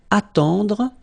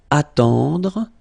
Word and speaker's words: attendre: Then attendre, attendre, remember final you don't insist on it, it just gives you the possibility to pronounce the dr, dr, okay, so attendre, attendre, alright, and it's to wait.